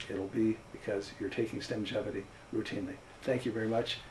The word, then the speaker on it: Stemgevity: That's S-T-E-M-G-E-V-I-T-Y, Stemgevity, rhymes with longevity.